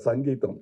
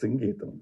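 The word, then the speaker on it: Singeetham: In Tamil Nadu, he used to get very upset because they, Mr. Sangeetham. No, it is Singgeetham, please.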